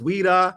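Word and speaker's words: Ouidah: not pronounce Wida the correct way the correct pronunciation is Wida not Judah and you had to do named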